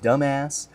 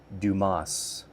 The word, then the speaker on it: Dumas: Dumbass? And then the guy who's he's being interviewed with uh he's like shows his name tag on the desk and he's like it's pronounced Dumas.